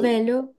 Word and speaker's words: Velo: वेलो प्रोनाउंस करेंगे या फिर फेलो वेलो वेलो, प्रोनाउंस करेंगे? फेलो नहीं है, वेलो Okay, पढ़ेंगे।